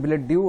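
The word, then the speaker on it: billet-doux: তো এখানে billet due উচ্চারণটা হবে, তো এখানটা এটা হবে love letter.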